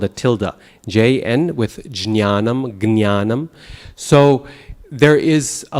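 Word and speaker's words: ज्ञानम्: scholars today say that the correct pronunciation originally was jnya, jnanam. But today that pronunciation is not used. If it was originally there, it's been lost. And so if you say jnanam, people will look at you really funny. So I don't recommend it. Instead, Hindi speakers do gyanam, gyan, okay? And that's kind of halfway there, because the ja you turn into a ga, but you lose the nasal.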